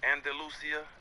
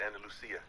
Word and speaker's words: Andalusia: And Andalusia, Alabama, that's how you say it? Andalusia. Are you from Spain? It's Andalusia.